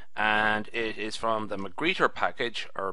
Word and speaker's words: magrittr: it is from the mcgreer package or mcre I think the r is not pronounced as strongly as one would think and it was written